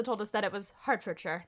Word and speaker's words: Hertfordshire: Which we found out is pronounced Hertfordshire. Shout out to Zach Cohn for correcting us on that.